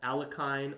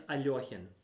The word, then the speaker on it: Alekhine: Now, for all you non-Russian speakers, it's Alekhine defense, not Alekhine or Alekhine, whatever. I hear that sometimes. It's Alekhine. That's how you pronounce it.